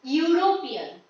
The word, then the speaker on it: European: European, the word is starting with the letter E, but it is being pronounced like U. European.